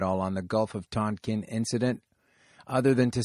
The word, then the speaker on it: Tonkin: Gulf of Tonkin incident Tolkien I'd say Tonkin but you know I'm a western person Tonkin was the actual pronunciation the USS maddox was